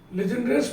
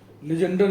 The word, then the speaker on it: Legendre: इसका pronunciation लीजेंडर भी करते हैं लोग, लीजेंडरे भी करते हैं और लीजेंडरे भी कहते हैं। जैसे आंध्रे वैसे लीजेंडरे, आपकी जो इच्छा करिए, मैं इसको लीजेंडर बोलूँगा।